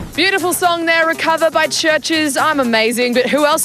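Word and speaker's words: CHVRCHES: Now, I'm thinking Recover by Churches, spelt with a V, interestingly enough.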